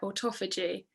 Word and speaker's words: autophagy: called or i think i'm saying it right autophagy and it's basically try it literally translate to